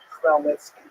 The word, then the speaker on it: Chmielnicki: So this is just the way it's written in Polish, and if you understand Polish phonetics, you'll know that it's pronounced Chmielnicki, which is also not so easy to pronounce, but that's not our job anyway.